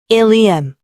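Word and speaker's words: ileum: 그 대표적인 예로는 ilium, ilium, 첫 번째 일리움은 장골, 그리고 두 번째 일리움은 회장. 장골과 회장의 발음은 일리움으로 동일하나 장골은 골반의 일부분이고 회장은 소장의 한 파트로 스펠링에 따라 지칭하는 신체 기관이 다릅니다.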